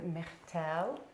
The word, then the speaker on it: Myrtille: We're here with Myrtille from, did I pronounce it okay?